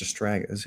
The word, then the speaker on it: Astragalus: Maybe it's just astragalus. It has an L in there. Astragalus. Okay, Astragalus. yeah, I was mispronouncing.